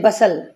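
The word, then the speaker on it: bustle: देखिए बेटा ध्यान से बसल क्या साइलेंट है टी टी नहीं बोला जाएगा बसल रश भागदौड़ चलमली इसमें क्या साइलेंट है बताएंगे?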